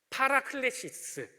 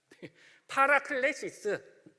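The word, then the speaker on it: παράκλησις: 얘네들 말이 있을 거 아니에요 그게 이제 뭐라면 파라클레시스네 따라해 보시겠습니까 파라클레시스 파라클레시스네 발음은 이제 좀 그런데요 아무튼 이게 보혜사 같은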